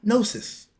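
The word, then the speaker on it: gnosis: at that moving on they called it nosis spelled g n o s i s and by the followers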